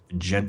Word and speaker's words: djent: a bit of like a gent how you pronounce it yeah gent like sound to them djent for those listening